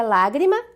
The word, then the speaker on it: lágrima: Com isso, nós já chegamos na última opção, que é lágrima, agradável e provérbio. Lágrima, proparoxítona, acento na antepenúltima sílaba, o lá.